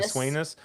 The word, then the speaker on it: Sweynesse: Is it Lucky Sweynesse or Swin? Lucky Yeah, Swainus. Sweynesse.